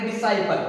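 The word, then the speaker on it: disciple: डी आई एस सी, एस सी आ गया तो सी को प्रोनाउंस नहीं करना है। तो इसको क्या पढ़ेंगे, इसको पढ़ेंगे डिसाइपल, क्या पढ़ेंगे डिसाइपल, और ये इसको डिसिपल भी बोलते हैं।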